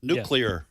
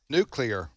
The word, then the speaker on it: nuclear: You got to have three syllables, right? Nuke. Nuclear. Nuclear. Yeah. How about this? Nuclear.